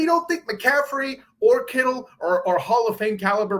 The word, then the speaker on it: Kittle: And instead, also, Purdy has a dude whose name rhymes with Skittles. That's pretty amazing as well, catching the football in George Kittle, right?